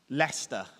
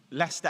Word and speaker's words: Leicester: that tricks everybody up so I want you to imagine in your mind that you are pronouncing University Hospitals of leester very good leester and northamptonshire it is